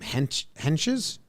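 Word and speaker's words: Hentges: in a row so is how do you pronounce this dude's name hench's yes yes okay steven uh and ghost and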